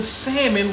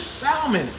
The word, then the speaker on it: salmon: do it not even stop pronouncing salmon with a l i want some salmon what is salmon salmon again i will